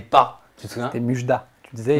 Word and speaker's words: Mujdat: Ouais, je disais Mujda. Et le T se lit. Voilà, il me manquait le T. Donc pour tous ceux qui ne savent pas encore comment prononcer ton prénom, c'est Mujdat.